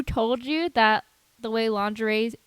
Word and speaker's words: lingerie: sure why they had to be dressed in linger II uh angry yes Chiara would say honey it is lingerie I'm not sure who told you that the way lingeries spelled is pronounced lingering but that's fine it's